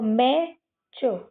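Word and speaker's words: match: इसमें भी लास्ट में क्या आया है? टी सी एच आया है। है ना? तो हम इसमें भी क्या करेंगे? टी को साइलेंट कर देंगे और मैं और सी एच से क्या बनता है? च बनता है। तो मैं च मैच है ना?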